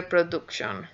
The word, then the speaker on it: production: And so remember, production, that's an A. And it's very easy to go production, but production, that's an A. You know Donald Duck, so D-U-C-K, duck. Well, it's the same sound, production.